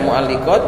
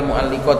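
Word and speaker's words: مُعَلِّقات: Bisa dibaca mualliqat, bisa dibaca mual muallaqat. Kalau mualliqat berarti penggantung. Kalau muallaqat berarti yang digantung. Intinya kalau ada taklik ini berarti wabqiatal mualliqat ini bacanya yang kuat mualliqat kan ini kan contohnya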